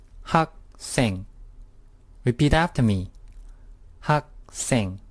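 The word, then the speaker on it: 학생: which means I next word ages didn't it's pronounced hawk sing repeat after me Hawk sing ha sing the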